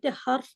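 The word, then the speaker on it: حرف: যদি বাংলা শব্দ বলেন তাহলে ঠিক আছে, তা আরবি শব্দকে যে হরফ বলে তাহলে সঠিক উচ্চারণ করলো না ভুল উচ্চারণ করলো? ভুল ভুল। করলো। আর হার্ফ হার্ফ হারফ, আজবর হার, হারফ।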